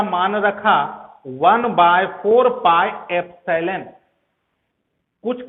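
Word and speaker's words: epsilon: ये एप्सिलॉन एक Greek alphabet है, जैसे कैसे होता अल्फा, बीटा, थीटा, ओमेगा, पाई, उसी श्रेणी में ये ग्रीक अल्फाबेट है।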